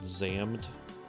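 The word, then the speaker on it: Xam'd: opening from an anime called zammed which is spelled like X apostrophe AMD wasn't actually a really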